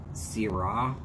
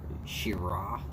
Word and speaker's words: Shiraz: bit spicy wines okay so it's sira or shira okay but it's got a z in the name so i always call it shiraz somebody wants to be